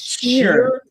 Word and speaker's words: Scheer: It's Sheer with an S.